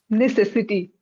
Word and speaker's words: necessity: There was a bit of mother tongue influence when you were pronouncing it. One second. Okay. This one. Necessity. Ne- Necessity, right? But when you were saying necessity. necessity, because you have a little bit of Punjabi accent, right?